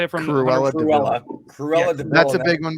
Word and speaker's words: Cruella de Vil: Cruel de Vil? Is that how you say it from Cruella de Vil. Cruella de Vil.